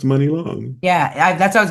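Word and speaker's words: Muni Long: today that it's pronounced Money Long. Yeah, that's what I was gonna tell you. Actually, I read I it was in her all Mooney, Wikipedia.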